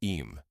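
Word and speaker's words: Eyam: Am, as you may know, is pronounced just like Eam.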